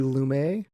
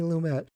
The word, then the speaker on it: Lumet: were on the episode i think it's cindy sidney lumay okay so not french sydney lumet 12 angry men i've